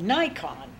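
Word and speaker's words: Naikan: really interesting system called Nikon Nikon the which is pronounced like the camera but it really are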